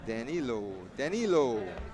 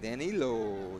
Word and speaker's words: Danilo: Danilo. It's kind of like Daniel, but Danilo Sapienza.